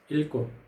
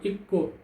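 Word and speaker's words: 읽고: यदि गो आयो भने चाहिँ यसको उच्चारण चाहिँ के हुन्छ, अगाडिको उच्चारण हुन्छ इल्को। यसमा इक्को इक्को हुँदैन कि, यसको उच्चारण के हुन्छ इल्को, इल्को।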